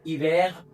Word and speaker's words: hiver: Because H is always mute in French. So hiver, water.